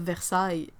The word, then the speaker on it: Versailles: French to English like the end of Versailles yeah si is similar but it's like it's close enough but it's not